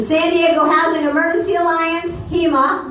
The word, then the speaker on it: HEMA: The San Diego Housing Emergency Alliance, HEMA, which rhymes with FEMA, by the way, that's purposeful, is dedicated to building such a movement, and I hope everyone here will join us.